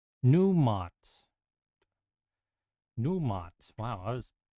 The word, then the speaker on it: Numot: Namot. Namot. The DC. Is it Nimut? Namut? N-E-M-O-T. How do I keep misspelling this guy's name? Numot. Numot.